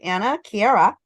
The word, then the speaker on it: Anna KiaRa: media Productions because today we are speaking with Anna Kiera did I say that right ah yes you pronounced it right oh great I'm so happy